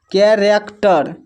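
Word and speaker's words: character: यहाँ पर देखिए कैरेक्टर, कैरेक्टर में जो है सी के बाद देखिए एच है तो यहाँ पर भी एच साइलेंट है, कैरेक्टर।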